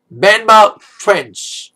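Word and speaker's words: Benmont Tench: Benmount Tench. I need to pronounce his name right.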